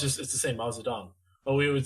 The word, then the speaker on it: Mao Zedong: Well, it's the same, Mao Zedong. But we would say like in Chinese, it's Mao Zedong. Like that's how you would pronounce it properly.